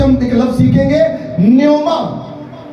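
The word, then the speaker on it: pneuma: हम एक लफ्ज सीखेंगे Nyoma P एन ई यू एम एन पीनोमा भी कहते हैं लेकिन पी साइलेंट है नोमा कहेंगे हम इसको मतलब इलाही रूह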